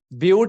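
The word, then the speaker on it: but: ब्यूट बोलते हैं, मतलब लिखते हैं बट है, eight बट इट is pronounced as ब्यूट, right?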